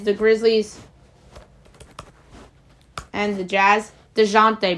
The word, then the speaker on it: Dejounte: DeJounte Murray. I knew I was pronouncing his name wrong. I was like, that's not right.